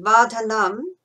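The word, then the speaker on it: vardhanam: So see that vadhanam and then bandhanan in the second line. They sound similar. There's 3 syllables, but with vadhanam you've got a short num on the end, and with bandhanan you've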